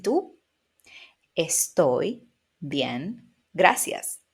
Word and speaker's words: tú: So, yo, yo, tú, tú. Remember of not doing a T very strong, right? Like in English, like two, but you want to make it very, very soft.